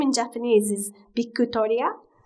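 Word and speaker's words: ビクトリア: name in japanese is bikutoria that's how you pronounce it in japanese so my friends at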